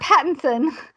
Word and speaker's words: Pattinson: Sorry, I mispronounced his name. Robert Pattinson.